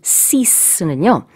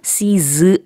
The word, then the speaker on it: cease: C-E-A-S-E, cease는요. 역시 공식적인 느낌의 단어고 중단하다라는 뜻인데요. stop랑 의미가 같지만 훨씬 격식 있는 표현이에요. 발음이 cease 아니고요. cease 이렇게 좀 강한 S 발음을 뒤에다 해주셔야 돼요.